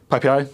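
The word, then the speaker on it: PyPI: let's let's talk a b about PPI so ppi is the python package index it's pronounced PPI um it's the default source of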